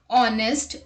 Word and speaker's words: honest: unvoiced h let's look at the examples our honest honor higher let's look at the exception words